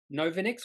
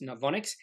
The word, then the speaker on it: Novonix: the name completely wrong I think I said no vinix or something like that but it is pronounced novonics in fact the first time I took a